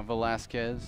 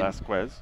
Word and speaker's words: Velasquez: game we should mention talk to Sebastian Velasquez this weekend Vasquez no we clarified with him directly it's Velasquez Velasquez after many sources told